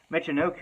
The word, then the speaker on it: Michinoku: tuck him in chicken ooh I did not pronounce that right Michinoku oh wow I should probably cut that out